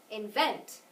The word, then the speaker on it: invent: Invent. Good, that one's on the second syllable.